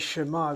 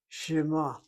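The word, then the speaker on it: שְׁמַע: In this case, shema, the word to hear, I'm giving a sound, uh, shema. I'm giving a sound to that shin.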